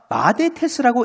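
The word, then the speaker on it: μαθητής: 마데테스 제자 저 꼽을 한 것이가 마데테스라고 읽는 단어입니다.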